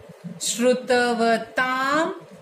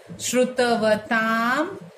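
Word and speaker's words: श्रुतवतां: अल्प श्रुतम श्रुतवताम, ये डॉट म हो जाता है, श्रुतवताम परिहास धाम।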